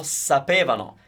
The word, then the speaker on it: sapevano: Loro sapevano. Careful with the stress of the word because, as you can hear, it's at the very beginning of the word and it might be a little difficult to pronounce.